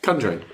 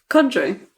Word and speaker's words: conjuring: I I've never heard say it conjuring. How do you spell it? C O N. Conjuring. No, not But you're putting so much emphasis on the O.